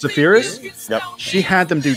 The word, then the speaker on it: Spheeris: Now the director, Penelope, how do you pronounce Spheeris. Your last name? Spheeris. Spheeris?